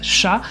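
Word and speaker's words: 者: arts en général et le kanji mono qui ici se prononce sha et qui représente les personnes qui exercent une activité, qui exercent un métier.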